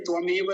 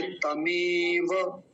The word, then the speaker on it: तमेव: हमारा शब्द क्या है तमेव तो ध्यान रखेंगे त्वमेव नहीं बोलेंगे तमेव ऐसा बोलना है विवा विवा वि